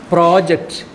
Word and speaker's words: project: Project is verb. Project is project. Stress is here. Here, project. Next week, we are going to get a new project. If you mispronounce it as project, your boss will be rather confused. Your boss will be totally confused.